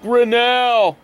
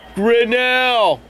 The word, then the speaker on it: Grinnell: is pronounced and my last name is pronounced Grinnell last name is yes and your last name is Grinnell right G as in Golf R is in